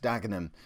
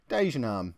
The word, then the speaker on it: Dagenham: season at home against Oxford and Away against dagenham or as former dagenham inhabiting work colleague of mine used to pronounce it Dean arm because apparently it made it sound Posh um